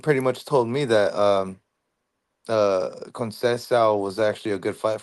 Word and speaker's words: Conceição: Consequio? Yeah, Conceição. The little Conceição. C with the little tail, it really is like an S.